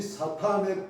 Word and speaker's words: 사탄: 그래서 사단이란 주로 사탄이라고 하는데 발음을 강하게 해서 사탄. 이 사탄의 뜻이 히브리어로 대적하는 자입니다.